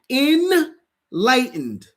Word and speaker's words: enlightened: Even though it's spelled E N, it's really I N. It's enlightened.